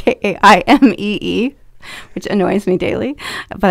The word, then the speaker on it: Jaimee: We are on Instagram, which is at Jaimee Interiors, and it is spelled crazy. So thank you, Mom, for that. It's Jaimee.